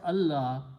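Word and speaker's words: ألا: La Means not so when you read them together you do not pronounce the sound of the noon because of the Taj but you pronounce the sound of lamb twice so you put a sh on lamb and you do not pronounce or write this so it becomes Allah Allah means not that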